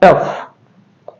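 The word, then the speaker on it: tough: रफ उसी तरह से टी ओ यू जी एच इसका उच्चारण होगा टफ उसी तरह से एल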